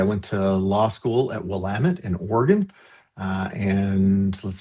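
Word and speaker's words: Willamette: I went to law school at Wamut in Oregon.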